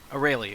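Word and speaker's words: Arale: Aurelie, okay. That's how you pronounce it.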